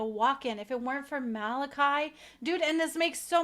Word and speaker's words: Malachi: Saint Malachi's prophecy doesn't speak about another peaceful successor. then he said it wrong again. It's Saint Malachi. It's Malachi. I know him as Malachi.